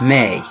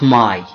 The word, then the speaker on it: may: pronunciation all right so we pronounce it may okay not my but may right so we say